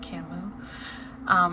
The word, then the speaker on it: Camus: Camus.